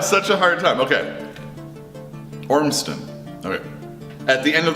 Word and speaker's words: Ormston: It's like 2 syllables, no Z's in it. And I have such a hard time. Okay. Ormston.